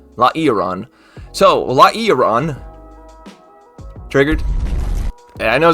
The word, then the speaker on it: Lairon: And that Pokemon is Lairon. That's how you say it. I'm pretty sure it's how it's spelled. Lairon. Lairon.